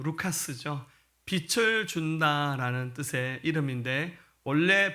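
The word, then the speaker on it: Λουκᾶς: 그의 이름을 헬라식 발음 말하면 루카스죠.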